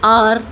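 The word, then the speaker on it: hour: कभी कभी कुछ वर्ड्स ऐसे होते हैं जिसमें एच से स्टार्टिंग होती है, लेकिन वो एच क्या होता है? म्यूट होता है, वहाँ पर साइलेंट होता है। जैसे कि आर, ऑनर, एयर। यहाँ पर आप देख सकते हैं कि एच की कोई भी साउंड नहीं आ रही है, तो यानी कि वो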